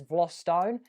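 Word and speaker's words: Vlastuin: It's Dutch. The V is pronounced as F. Yeah, that's what I've been saying, Nicholas. It is Vlostone, and that's what I believe I've been calling it as throughout the whole night.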